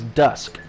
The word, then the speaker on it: Dusk: What it's supposed to sound like is Dusk. Like D-U-S-K. That's how... When I first came up with it, that's how I basically thought about how it should be pronounced.